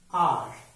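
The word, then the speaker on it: hour: In the same way, we are pronouncing this word R, not however.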